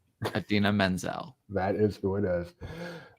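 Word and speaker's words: Idina Menzel: John Travolta still does not know how to pronounce her name. Adele Dazeem. Adina Menzel.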